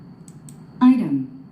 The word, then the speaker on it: item: item 우리는 이 단어를 아이템이라고 합니다. 물품, 품목, 어떤 재료. 한국인들은 아이템이라고 그러는데 미국인들은, 원어민들은 아이름이라고 합니다.